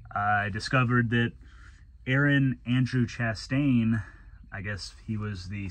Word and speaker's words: Chastain: his last name wrong it's not chastian it's actually Chastain um they did write